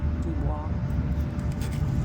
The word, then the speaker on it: Dubois: How do you pronounce the county? Dubois.